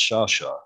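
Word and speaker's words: Sciascia: And then my surname is Italian, which is actually pronounced Shasha, which again, nobody can pronounce either of my names.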